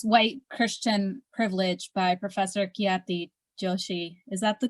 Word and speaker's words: Khyati Joshi: carol please yes white christian privilege by professor kiyati joshi is that the correct pronunciation or your surname oh it's definitely on